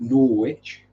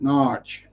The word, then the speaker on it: Norwich: norwich pronounced n-o-w-r-i-d-g-e um americans pronounce it norwich and locals pronounce it narch n-a-a-r-c-h um it's all